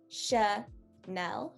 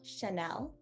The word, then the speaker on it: Chanel: that's a rule um generally european languages don't have a very tangy sound to them they go and flow in one register so this one is sha nell chanel um yeah so that